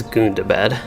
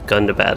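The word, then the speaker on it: Gundabad: of standing stone games i was thinking it was goon to bed and then he pronounced that a scenario pronounced it as gunda bat i think during his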